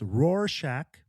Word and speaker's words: Rorschach: It says it's Rorschach is the correct pronunciation.